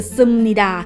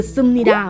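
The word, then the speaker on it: 습니다: เสียง ว่า ยัง ไง อัน แรก นะ คะ ก็ คือ ซึมนีดา อัน แรก เลย นะ คะ ทุก คน ก็ คือ ซึมนีดา มัน เขียน ว่า สุด มี ด่า มา สะกด ด้วย พี่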